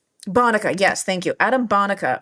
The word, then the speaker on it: Bonica: system works is Adam Bonica, how do you pronounce this last name, Adam? Bonica? Bonica, yes, thank you.